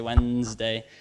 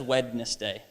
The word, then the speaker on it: Wednesday: these days a Wednesday I don't think anyone says wetness day that's a confusing one because like why do you have a silent D and an e in like a day of the week like that's annoying right